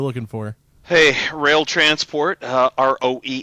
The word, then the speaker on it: Roehl: Hey, Roehl Transport, Roehl, is a lot of people pronounce it roll, but freight is finally starting to pick up.